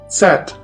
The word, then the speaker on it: Z: And the last letter is Z, Z, which is pronounced like the S in the word bits.